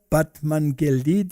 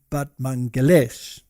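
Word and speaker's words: Batmanghelidj: scientist and his and his name was this one over here batman but apparently you pronounce it but mangalesh now he was an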